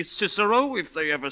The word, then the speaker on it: Cicero: Making the boys say kicko at school when for the rest of their lives they'll say Cicero if they ever say it at all.